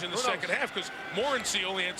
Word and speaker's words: Morency: Again, when he walked into our meeting yesterday, we asked, how do you say your name? He said Morency.